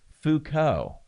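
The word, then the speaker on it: Foucault: I learned how to pronounce name Fuko.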